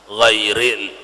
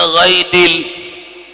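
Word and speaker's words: غير: ghairil, mestinya ghairil, dibacanya ghaidil.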